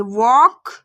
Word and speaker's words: walk: देखिए जब ए एल के बाद कंसोनेंट के एम एफ वी आए तो एल वहां पर क्या होता है? साइलेंट होता है। साइलेंट मींस लिखा तो होगा लेकिन पढ़ा नहीं जाएगा। ठीक है? तो समझ गए आप? एल प्लस के एम एफ वी तो हम वहां पर लिखेंगे तो एल को लिखेंगे लेकिन वहां पर एल को रीड नहीं करेंगे। पढ़ेंगे नहीं।